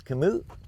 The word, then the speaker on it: Kamut: needs to help me it's not kamut it's commute is it the tea is silent so I found this out